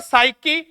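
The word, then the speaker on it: psyche: एक तो साइकी plus logos दोस्तों साइकी का अर्थ होता है आत्मा। ओ थाने तो ओ लिख पेसी तो ध्यान रख ओ पी साइलेंट है सकी प्लस लोगोस लोगोस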